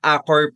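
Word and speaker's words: Accor: the amenities, the experience as an Acor Platinum member as well. Ayan, I pronounce it correct kasi I used to pronounce it as Acore. Sabi niyo Acore.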